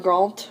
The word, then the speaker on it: grand: Note that in liaison, the D of grand is pronounced like a T. So on grand appartement.